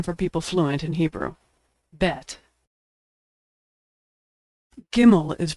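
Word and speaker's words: בית: Bet, which is pronounced B as in boy or V as in victory.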